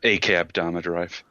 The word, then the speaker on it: Akudama Drive: Or depending on how you say it, because some people say it differently, Akudama Drive.